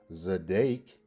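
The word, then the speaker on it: צָדַק: Or is it number 3, a verb pronounced zadek?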